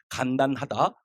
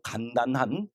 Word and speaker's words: 간단하다: 그래서 간단하다, 고로 간단한, 그래서 간단하다, 간단한. 그래서 된 소리를 발음해서는 안 됩니다.